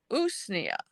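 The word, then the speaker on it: Usnea: day for 10 days the next one is usia it's spelled us Nea it's also called old man's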